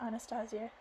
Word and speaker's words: Anastasia: Anastasia said waking me I'm gonna call her Anastasia because that's the actual pronunciation the Russian pronunciation of the English I felt her massaging